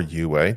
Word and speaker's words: Uwe: It's a Uwe Rosenberg or Uwe, depending on how you would pronounce it.